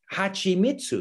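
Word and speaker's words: はちみつ: But if you're writing your transliteration system for a non-speaker, then it should be hachimitsu, because that's how it's pronounced.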